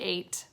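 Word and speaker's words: eight: 8 begins with a long A sound, and this has an E. That makes it a little tricky, but it's really 8.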